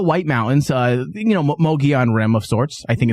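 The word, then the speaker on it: Mogollon: Uh, you know, Mogi on Rim of sorts. I think it's called Mogi. Am I pronouncing that right?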